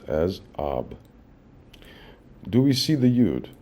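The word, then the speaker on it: אב: This is expressed in the letters Ayin and Bet, and is abbreviated and pronounced as Ab.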